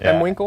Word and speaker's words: mwinkle: I think you're M Winkle. At M Winkle, MWINKLE. Winkle. I pronounce it Mwinkle. Just like that.